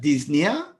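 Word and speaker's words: dyspnoea: of people got that disne again the O is silent Disney so is the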